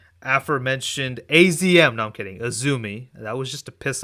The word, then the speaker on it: AZM: They are a huge fan of Japanese wrestling, and they went on this rant when someone pronounced Azumi as AZM, and I was like, dude, just chill out.